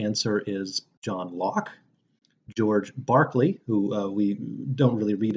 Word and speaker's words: Berkeley: in California but pronounced Berkeley like the former NBA player that's a British thing and the third is